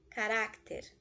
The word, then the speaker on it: carácter: Carácter. Penúltima sílaba é a sílaba tônica, ou seja, ela é uma grave terminada em consoante, leva acento.